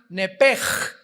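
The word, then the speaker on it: נפש: el hebreo es nepesh, se pronuncia nepej, la CH en hebreo se pronuncia como J, nepesh, murió.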